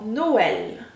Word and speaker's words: Noël: Nous avons le E accent circonflexe qui se prononce également comme dans forêt, forêt. Nous avons le E tréma comme dans Noël, E tréma, Noël.